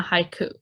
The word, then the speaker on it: haiku: How many syllables are in the word haiku? Haiku. 2 syllables.